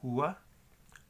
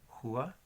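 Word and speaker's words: rua: Así que se pronuncia un poco como la J en español.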